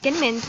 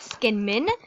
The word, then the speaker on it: Skinman's: Yeah, it's pronounced Skinman's, not Skinmin, or anything else you thought it was.